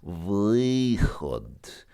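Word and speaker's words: выход: Ask them to say vychod very slowly, and you'll very clearly hear it's not one sound. It's vychod.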